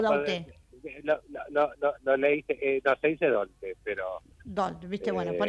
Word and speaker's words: Daulté: Javier, decime si lo pronuncié bien. ¿Cómo es el apellido? ¿Daulté con L o Daulté? Se dice Daulté, pero...